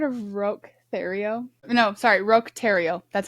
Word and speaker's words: Roch Thériault: No, sorry, Roch Thériault.